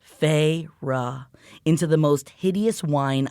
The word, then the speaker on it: Feyre: She drew out the two syllables of my name. Here it is, y'all. Feyre.